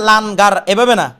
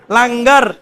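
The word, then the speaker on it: لنگر: তাইলে লাগার এভাবে হইতো লাগার এটা লান গারও না লাগারও না উচ্চারণ হচ্ছে বাইন বাইন না লাঙ্গার এটা বলতে পার বাইন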